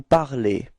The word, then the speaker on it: parlez: And so for vous, you will get the ending ez, okay? And it's pronounced e, okay? So you should pronounce e, alright? So you'll get vous parlez.